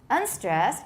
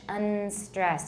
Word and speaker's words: unstressed: completely on the right, unstressed, and don't say unstressed, by the way. 大家注意要发音，不是 unstressed, it's un. Did the tip of your tongue touch your alveolar ridge?